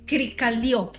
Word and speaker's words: Krikalev: ¿Cómo es que se pronuncia el apellido? Mira, este señor se llama Sergei Krikalev.